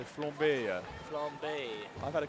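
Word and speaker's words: flambé: You have to say it in a French way. So flambe.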